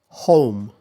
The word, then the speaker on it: home: So both are diphthongs, that's the same, nijuboin, but they start from slightly different positions.